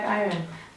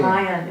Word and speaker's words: Iron: Lion. It's Iron.